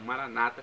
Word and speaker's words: Maranata: vem senhor ou Maranata como dizem nossos irmãos separados evangélicos ou Protestantes eles falam Maranata com a tônica na penúltima sílaba não importa pronúncia o